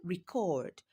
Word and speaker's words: record: So record is a noun record is a verb. You see where you place the stress changes the meaning of the word.